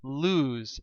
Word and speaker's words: lose: right this word is lose it rhymes with news it's a verb it